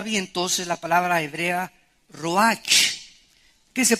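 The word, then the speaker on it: רוח: es la palabra hebrea Roach que se pronuncia prcia ro La ch en el hebreo se pronuncia como j y que es la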